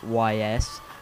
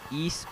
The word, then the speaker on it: Ys: hello today I'm reviewing E7 for those who have never heard of e you may have thought the game was pronounced Ys or Y well it simply pronounce e or E both work the game was developed by